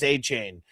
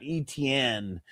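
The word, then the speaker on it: Etienne: That it's not ETN, that it's achain.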